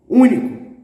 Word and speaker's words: único: Every word with the antepenultimate syllable stressed is going to have the accent. For example, the word unique, único, único, único, unique.